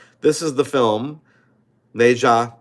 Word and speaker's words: Nezha: I do that right this is the film nja 2 that's how you pronounce it nja um that's the main character